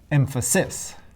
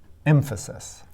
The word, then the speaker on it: emphasis: Only one possibility left. Emphasis. The first syllable is stressed and the last two are unstressed.